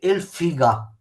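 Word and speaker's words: figà: I polmoni, i palmoni, i bronchi, i bronchi, il fegato è il figa. Fegato è il figa. Mi raccomando l'accento sulla A, se no è un'altra roba, una parolaccia.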